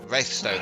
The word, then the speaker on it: Wraithstone: Wraithstone, thank you. Can't even pronounce my own town.